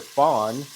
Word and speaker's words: fond: Remember, fond, it's pronounced like baby deer. Fawn is a French word